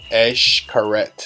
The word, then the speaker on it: Xcaret: to keep these in mind Xcaret is not pronounced good it's called a curette from the Quinta Avenida is gonna take you roughly around 20 minutes to get to ash curette so if you're rented a scooter is gonna